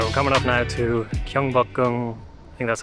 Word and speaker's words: Gyeongbokgung: Alright, we're coming up now to Gyeongbokgung, I think that's how you say it, Palace,